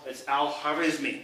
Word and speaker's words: Al-Khwarizmi: Well, and I'm going to probably butcher this, but it's Al-Khwarizmi. It's the name, I think it's how you pronounce it.